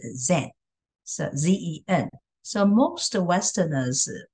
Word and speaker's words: Zen: So the Japanese pronunciation of the Chan, the kanji, the Chinese character Chan in Japanese is Zen, so Z-E-N.